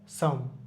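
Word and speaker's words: psalm: নিউম্যাথিক pneumonia pneumonia pneumonia সাম সাম এখানে LO silent থাকবে পিটা সাইলেন্ট থাকবে এর আগে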